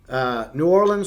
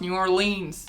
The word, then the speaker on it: New Orleans: So, like, the second season was focused on New Orleans restaurants and also some Texas You restaurants. said it wrong. It's New Orleans.